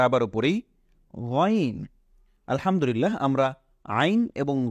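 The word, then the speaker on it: عين: নেই এটাকে আমরা বলব আইন এটাকে আমরা বলব আইন এটা ভেতর থেকে চাপ দিয়ে পড়তে হয় আইন গলার ভেতর থেকে আনতে হয় এটাকে আমরা বলবো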